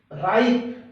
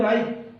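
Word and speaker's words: ripe: राइप, RIP से जो sound बनेगी वही बोलनी है, राइप।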